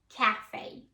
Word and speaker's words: café: you see a word if you know it comes from French you will pronounce the letter A or the sound as an A so the first word here is pronounced cafe cafe cafe a cafe